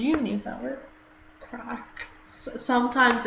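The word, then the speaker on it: craic: Crack. Sometimes it's quite a typical Northern Irish thing, like it means good time. Yeah, and it's spelled like C-R-A-I-C, and like crack literally in like Irish or Gaelic means fun.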